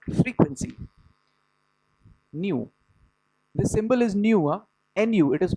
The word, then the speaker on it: nu: This symbol is nu. Nu. It is pronounced nu.